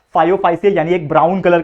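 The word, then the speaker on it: Phaeophyceae: जो भी इसका प्रोनाउंसिएशन है सही तरीके से आप बोल लो, मैं तो बोलता हूं इसको फायोफाइसी।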